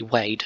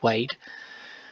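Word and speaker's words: weighed: out loud assessed value that would be wade w e i g h e d wade and if we say that out loud it sounds exactly the same as wade wade if i spell it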